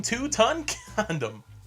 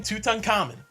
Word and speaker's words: Tutankhamen: 'ok a Fran said King two-ton condom instead of King Tutankhamen in the sixth grade I mean that's almost the correct way to say it it kind of reminds